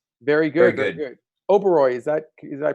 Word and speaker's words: Oberoi: Oberoi, did I pronounce that correctly?